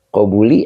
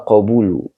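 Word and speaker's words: قبول: Man nah begitu oke qobuli apa qobulu qobulu ya ya qobulu karena matuf dia dari matuf alinya Hubbu ya Jadi ini dibaca waqobulul Haqi tadi saya Bacanya apa takutnya eh itu tadi terkilir Saya suka baca maksudnya donmaah Eh keluarnya kasrah k gitu Jadi yang benar adalah waqobulu karena dia makuf oke bedonesm oke jadi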